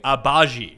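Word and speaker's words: Agbaji: we're going to go with kansas as someone's phonetically spelled ochi abaji is that correct ben that is correct and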